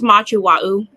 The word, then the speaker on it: Machu Wa'u: Mashu, is that, do we? It's Machu Wa'u.